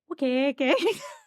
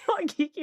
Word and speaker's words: Waikiki: We kept calling it Wakeke. We looked up how you actually pronounce it. It's not that at all. But so, Wakiki, I think of Wakiki.